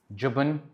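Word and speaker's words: جبن: Jubn is cheese. Jubn is cheese. So, pronounce it as jubn.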